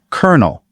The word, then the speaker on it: colonel: So, kernel.